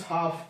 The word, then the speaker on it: half: Next is half, HALF, तो इसमें L silent है.